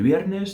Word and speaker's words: viernes: E aí a gente tem de novo o V sendo pronunciado como se eu estivesse fazendo uma menção de tocar os meus lábios, mas eles não se tocam.